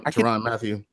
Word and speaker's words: Tyrann Mathieu: Tyrann Mathieu.